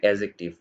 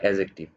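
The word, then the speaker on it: adjective: ওকে, এটা উচ্চারণ অনেকে ভুল করে, সো মাঝখানে এটা বলে দিই, এটা উচ্চারণ হবে অ্যাডজেক্টিভ। অ্যাডজেক্টিভ এই উচ্চারণটা ভালো না, মডার্ন ইংলিশে এটাকে বলে অ্যাজেক্টিভ।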